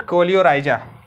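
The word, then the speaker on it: coleorhiza: जो protection provide कर रहा है इसको हम कोलेराइजा कहते हैं, ठीक ना, कोलेराइजा, ठीक ना, इसको हम कोलेराइजा कहते हैं। रूट कोलियोराइजा, कोलियोराइजा लिखा है बेटा इसमें, कोलियोराइजा, एनसीईआरटी में देख लो, स्पेलिंग करेक्ट लिखना बेटा, ठीक ना, कोलियोराइजा।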